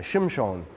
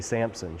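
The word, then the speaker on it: שמשון: when when this guy Shem Shawn is his name in Hebrew we say Sampson Shem Shawn is gonna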